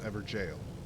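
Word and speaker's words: Evergaol: and for the record that is the correct pronunciation is ever jail so we got the weeping ever jail every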